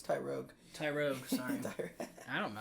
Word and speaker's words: Tyrogue: Maybe it's just Mach Punch that he can learn because of Tyrogi. Hitmonchan... It's Tyrogue. Tyrogue, sorry. I don't know how to pronounce it.